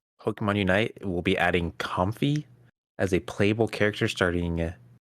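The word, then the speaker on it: Comfey: of my life uh apparently it's potentially potentially pronounced comfy comfy as in the mix between the words comfy and lay oh that wine actually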